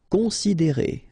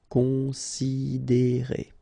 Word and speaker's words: considérer: Considérer, okay, same thing here. You get this accent aigu, and then the sound is E. Considérer.